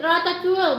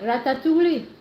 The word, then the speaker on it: ratatouille: Mayaman call it ratatouille, but if you are poor, call it pinakbet instead. Yes, that's right, Philip. That's the correct word. How do you pronounce that? Ratatouille. Ratatouille.